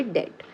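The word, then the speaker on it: debt: डेप्ट नहीं पढ़ेंगे, बी जो है वो साइलेंट है, तो हम इसको पढ़ेंगे डेट, ठीक है।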